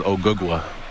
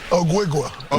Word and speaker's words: Ogugua: My real name is OGUGUA.